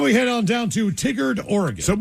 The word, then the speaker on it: Tigard: It's pronounced tie. Tigard.